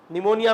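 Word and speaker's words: pneumonia: में नॉलेज में नहीं बोलते निमोनिया में नहीं बोलते पी साइलेंट है वहां पर निमोनिया की स्पेलिंग पी से शुरू हो रही है और बोलो आप नरिया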